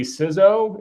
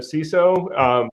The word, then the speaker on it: CISO: The I in information is short, so it should be CISO instead of CISO. I'm pretty convinced if you cut your teeth in federal government land, it's CISO, and if you cut